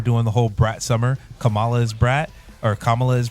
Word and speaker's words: Kamala: on to me because whenever I say her name half the time I say it wrong and she'll be very Stern like it's say it right it's Kamala godamn it and she